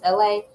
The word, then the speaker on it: Elay: Once again, my name is Elay, pronounced like LA like the city.